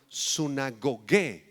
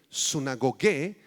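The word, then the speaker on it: συναγωγή: palabra sinagoga en griego es la palabra sunagogué con acento en la e sunagogué que era el lugar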